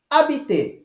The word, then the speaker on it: habiter: Percebam, habiter. Eu não pronuncio o som do H, como em inglês, por exemplo, né? Em horse, house, home. Não é isso? Em francês, não. Eu falo habiter, morar.